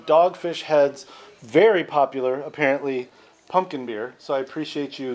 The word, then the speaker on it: Punkin: Yeah, pumpkin. No M.